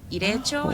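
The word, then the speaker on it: Ireichō: Your mom might know, but just an FYI, the Japanese American National Museum, they put together what's called an irecho. Have you heard about it? It's spelled IREICHO.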